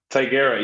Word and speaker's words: Tigera: So, am I getting the pronunciation of Tigera right? Tigera, yes.